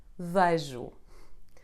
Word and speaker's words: vejo: You can get it in a tonic syllable when followed by the combination CH, LH, NH, or the letter J. Here are some examples. Fecho, espelho, tenho, vejo.